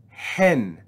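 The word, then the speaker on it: ἕν: sorry let me back up next we have hen we see rough breathing rough breathing with an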